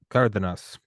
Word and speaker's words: Cardenas: Uh Kardanas. C A R D E N A S D is pronounced as th.